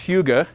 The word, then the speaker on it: Hygge: It's pronounced Hugo.